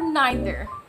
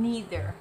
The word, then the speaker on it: neither: learned especially from euglesia most americans they pronounce them in neither and either with the double e sound although i found also